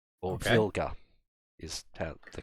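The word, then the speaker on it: Wilga: I think it's a polish aircraft called a wilter or vulgar is the correct pronunciation of it he he went a little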